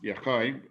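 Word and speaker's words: יוחי: And it's pronounced Yochai.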